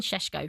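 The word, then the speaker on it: Šeško: Benjamin Shesho from RB Leipzig after trying to hijack their deal.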